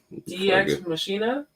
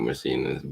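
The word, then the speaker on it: Deus Ex Machina: Matrix Revolution as Deuces how do you say it DX Mecca DX Machina it's not machinist but yeah I say it like that and made a brief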